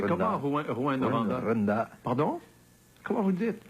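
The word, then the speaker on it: Rouyn: Vous le prononcez comment, Rouen-Noranda? Rwanda. Pardon? Comment vous le dites? J'y arrive pas. Ah oui, Rouen. Rwanda.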